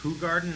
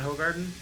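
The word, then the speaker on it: Hoegaarden: bottle and immediately recognize color you know it's pronounced H Garden not hog Garden yeah yeah screw that I'm still I'm still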